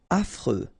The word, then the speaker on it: affreux: accent circonflex malhonnête désorganisé affreux final x not pronounced Fre affreux ennuyeux.